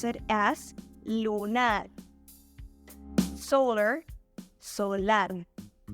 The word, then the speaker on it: solar: Solar, solar. In this example, we did the exact same as we did to lunar and lunar. So we moved to the stressed syllable to the last position.